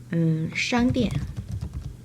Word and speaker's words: 商店: 商店. A on first tone on A, then falling tone still on A for the next syllable, for the second syllable.